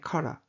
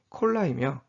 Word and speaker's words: collar: 용도로 디자인되는 한편 최근에는 옷깃을 의미하는 표현의 카라 우리가 일상생활에서 셔츠카라 오카라라고 부르는 카라의 정확한 발음은 콜라이며 바로 이러한 콜라의 의미를